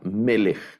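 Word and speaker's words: מֶלֶךְ: una palabra segolada y el acento va en la penúltima en la penúltima sílaba melek esta este sustantivo tampoco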